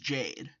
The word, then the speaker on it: JPDE: my knowledge, is playing Jade at all. And even though it's spelled JPDE, it's pronounced Jade, because it's a RWBY fan game.